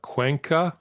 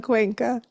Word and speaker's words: Cuenca: And today, and I'm going to try to get the name correctly pronounced. That's always a challenge. But a friend who I've known for a while, Cuenca. Is that close? Cuenca.